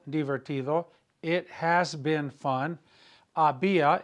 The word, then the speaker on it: había: Había, H-A-B-I-A, accent on the I, había sido, S-I-D-O, había sido divertido, it had been fun.